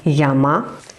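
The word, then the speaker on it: 山: they look like mountains they are called Yama and the fourth one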